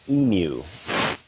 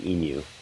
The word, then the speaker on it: emu: interesting involved a great EMU many Northerners will call it an emu it's actually pronounced inu I learned that the